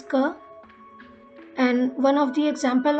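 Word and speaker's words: क: which is this one it is pronounced as pronunciation is ker and one of the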